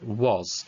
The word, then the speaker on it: was: So the middle bit is pretty obvious because they've learnt that as A, but we need it to make an O sound. It's not making a S sound at the end, it's that Z sound, was.